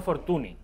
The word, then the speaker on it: Fortuny: Fortuny, que no Fortuny. Correcto. Fortuny, en catalán se pronuncia Fortuny.